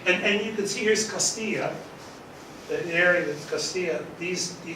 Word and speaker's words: Castilla: And you can see here's Castilla, the area that's Castilla. You can see this Granada, but now it's part of Spain. It's part of Spain. It's Portugal. This is the double L is pronounced Y.